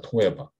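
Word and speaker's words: תועבה: 이 히브리어로는요, 토에바라고 읽습니다. 토에바. 참 독특한데요. 그 발음이 토하고 싶다 이런 거예요.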